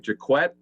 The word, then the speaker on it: Jacquet: be on the roster michael jacquette is how you pronounce his last name jaquette i'm going to put